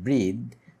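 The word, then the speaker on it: breathe: নিঃশ্বাস নেই উই ওল্ড ব্রিথ এই ব্রিদ এই যখন এটা ভার্ব হবে তখন এটার উচ্চারণটা হবে ব্রিথ আর যখন এটা নাউন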